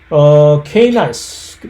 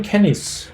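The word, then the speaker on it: Canis: 관계에 있다라고 하는 동물이고, 케이나이스 또는 캐니스, 라틴어는 사실 케이나이스라고 발음을 안 되는 건데 캐니스 루퍼스, 이렇게 우리 한국 사람이 발음하기 쉽게 단도직입적으로 이렇게 발음이 돼야 되는 건데, 케이나이스 루퍼스라고 보통 미국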